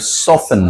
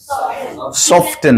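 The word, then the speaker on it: soften: তুমি কোন জিনিসকে নরম করবা তখন কি বলবা উচ্চারণ বলো এবার সফেন বলো কিন টেন না বলো সফেন সফটেন না কি হবে সফেন এবার বলো হার্ড করবা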